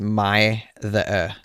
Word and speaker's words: mither: is pronounced Altringham, and what I thought was mither apparently was pronounced my-the. So yes, apologies.